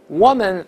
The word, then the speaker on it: woman: 我们直接可以说 woman villager。woman villager，咱们不是为了讲村姑，而是为了讲发音。